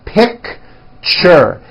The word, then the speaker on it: picture: That's a tricky one. It's 2 syllables. You pronounce it picture, picture.